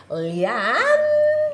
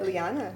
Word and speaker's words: Liana: All right, so today I have with me Leanne. Lyanna. Lyanna. Do you pronounce it Lyanna?